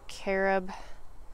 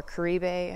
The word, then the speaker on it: Caribe: Most of these are carob, or Caribe, I think is the correct pronunciation.